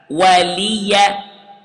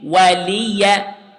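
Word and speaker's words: وَلِيَ: Notice here, the ya has fatha. Waliya. Okay. Waliya.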